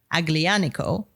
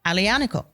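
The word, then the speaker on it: Aglianico: So, I used to say aglanico, the French because in French the G, you pronounce the G. And no, no, no, no. It's a silent G. So, alionical.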